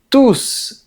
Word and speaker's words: tous: On dit tous les jours sans prononcer la lettre S. Mais on dit ils mangent tous en prononçant la lettre S. ? Et bien, parce que la règle dit qu'on ne prononce pas le S de ce mot s'il qualifie le nom qui est juste après.